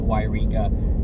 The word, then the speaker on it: Yreka: So just know that you'll probably be dealing with Yreka, but to pronounce it Yreka, because I don't want you to confuse it with a town called Eureka in California also.